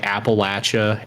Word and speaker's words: Appalachia: co m uh yeah like the whole like Appalachia area and and also yeah it is pronounced Appalachia it's not pronounced Appalachia I had